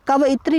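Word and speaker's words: कवयित्री: अब देखिए कव इत्री लिखा कैसे जाता है? देखिए मेरे उच्चारण को सुनिए। कव इत्री मैं क्या बोल रहा हूं?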